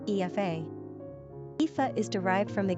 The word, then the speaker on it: Aoife: Although the Irish spelling looks awkward to the average English speaker, the name is actually pronounced with quaint simplicity in its original Gaelic tongue, Aoife.